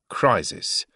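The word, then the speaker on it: Kriezis: Allow me to introduce you to Frank Crisis. Sounds like Crisis, but you spell it K R I E Z I S.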